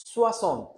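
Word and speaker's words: soixante: এরপর হচ্ছে সাংকন সাংকন সাংকন, সোয়াসন সোয়াসন সোয়াসন।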